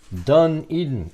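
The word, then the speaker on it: Dunedin: Eden, like Barbara Eden. Dun Eden is the name of the town.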